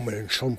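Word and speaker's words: Mélenchon: Claro, hubiera sido el mismo problema que ha tenido Melenchón en en Francia, eh, o Melenchón, para pronunciarlo bien, en Francia.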